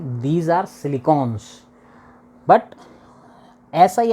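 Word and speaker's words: silicon: हम लोगों को तो हम लोग सिलिकन जो उसकी स्पेलिंग है उसके थ्रू क्या बोल देते हैं सिलिकॉन सिलिकॉन बोल देते हैं but that is नॉट the right pronunciation right pronunciation इ सिलिकन ओके सिलिकन के बाद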